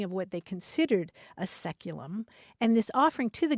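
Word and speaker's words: saeculum: AE c luu m which in English is pronounced seculum it's traditionally understood to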